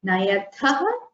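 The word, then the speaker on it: नयथः: But the Mahaprana should be very clearly pronounced in the Madhyama Purusha, Vivachanam and Bahuvachanam. So, Nayatha, Nayatha. Only then you will not confuse it with the Nayataha of the Prathama Purusha form. Okay? So, Nayamaha. Nayasi, Nayatha, Nayatha with the Mahaprana properly pronounced will help you in writing it correctly as well.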